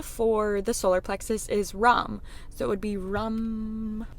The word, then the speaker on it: Ram: The mantra for the solar plexus is Ram, so it would be Ram, and it's spelled R-A-M, but I don't think it's Ram, I think it's Ram.